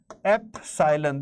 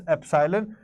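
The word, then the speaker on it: epsilon: Okay, so we pronounce it as epsylon. This is how we pronounce it. This is epsylon.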